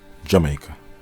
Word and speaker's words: Jamaica: Today the anglicized pronunciation is used, Jamaica.